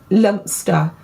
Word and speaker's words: Leominster: But yes, My sister lives near a place that is spelled Leominster. all right. It's said Leominster or Lumster.